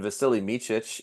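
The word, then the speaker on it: Vasilije Micić: And Vasily Micic, yeah, I said that right.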